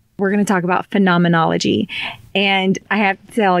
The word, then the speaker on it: phenomenology: stuck in my head she was like it's phenomenology phenomenology like the Muppets yes and so now